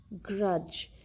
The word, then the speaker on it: grudge: In the word cage, here we have D before the letter G. So we do not pronounce the letter D. The word is cage, pledge, grudge. In all these words, letter D is not pronounced. It is not heard.